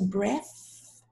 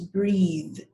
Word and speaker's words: breathe: 18 breath 19 breathe you see the difference the first one is breath the second one is breathe just because it has an e at the end so breath breathe 20